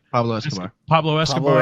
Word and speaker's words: Escobar: Who Pascabar. Right. Pablo Escobar.